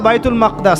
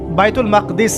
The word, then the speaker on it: বাইতুল মাকদিস: এবার এই বোরাক চলে গেল বাইতুল মাকদাস। এটা কোথায়? বাইতুল মাকদিস। সরি বাইতুল মাকদাস না বাইতুল মাকদিস।